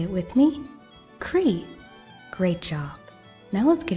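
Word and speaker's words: croí: Irish are you ready in Irish heart is Cree can you say it with me Cree great job now let's get into the craft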